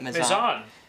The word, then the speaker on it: Mezan: Mezan.